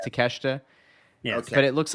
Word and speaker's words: Takeshita: They say Takeshita, right? I'm pretty sure he says Takeshita, Yeah. Okay. but it looks like Takeshita, but Yeah.